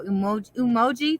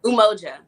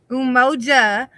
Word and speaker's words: Umoja: But when we first got on the podcast, the your candle emoji, did I say it right? Umoja. Umoja, right, was the candle that I started my like my bathing, practice in, right?